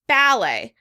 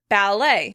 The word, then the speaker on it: ballet: Americans would pronounce the word ballet, ballet. Like I said earlier, we're making the word sound a little more French by stressing it on the second syllable.